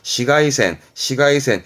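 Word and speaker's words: 紫外線: 시가이센 이거면 되고요.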